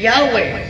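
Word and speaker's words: Yahweh: American Encyclopedia article jeova nagingon Jehova properly yahwe ang sakto yahwe Jehova is generally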